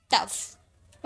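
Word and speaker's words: tough: तो हो गया लाफ टी ओ यू जी एच जी H last में है तो इसे फॉम में प्रोनाउंस किए तो हो गया टफ ओके आगे देखिए नेक्स्ट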